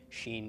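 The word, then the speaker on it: שׁ: right pronounced as SH the dot on the left pronounced as an S numerical value of Sheen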